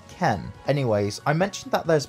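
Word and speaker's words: 剣: They are spelled with different kanji though, but both are pronounced Ken.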